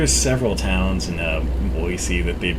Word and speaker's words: Boise: several towns in a boise that they've mispronounced and didn't bother me near as bad like people would pronounce boise boise which it's not because there's no z there it's an s but that doesn't bother